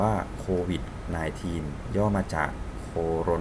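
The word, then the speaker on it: COVID-19: โค วิช ใน ทีน อ่าน ว่า โค วิช นาย ทีน ย่อ มา จาก โค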